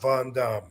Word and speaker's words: Van Dam: wrong all this time actually the real answer to that yes seriously the name that I was given was Rob Von Dam what y believe it